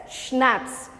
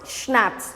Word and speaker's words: schnapps: we have schnapps now this word is pronounced as schnapps i've mentioned this before also c is silent here so how you pronounce schnapps repeat after me schnapps